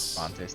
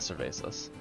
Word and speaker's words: Cervantes: Cervantes, not Cervasas.